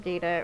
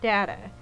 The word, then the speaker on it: Data: Data or switch to Data. And so Gene Roddenberry, who was still alive at the time, said that whoever pronounced the word first, that was how the word would be pronounced from then on.